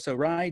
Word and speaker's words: Ray: I've looked into this because it's hard to say his name, but it's spelled Ray, R-A-Y, but it's pronounced Rai.